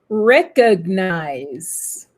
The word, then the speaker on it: recognize: vous avez naturellement l'accent tonique sur la première syllabe, guys. Perfect. Le second, Nicole, comment dit-on le verbe, reconnaître, s'il te plaît? Recognize.